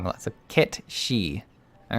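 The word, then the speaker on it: Cait Sith: but Keith Sith is Irish and is actually pronounced KET she I was never gonna get catchy all right I know Kechi is from one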